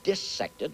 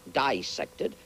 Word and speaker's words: dissected: cannot be dissected parenthetically you notice I pronounce the word disected not dissected it is not dissection when you cut up fishes and mollusks and cats and things the word is dissect uh and the word